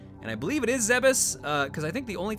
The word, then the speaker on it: Zebes: And I believe it's pronounced like that. I used to say Zebes, Zebes, Zebs, a lot of different names. Zebes, I think, is what I've kind of settled on now.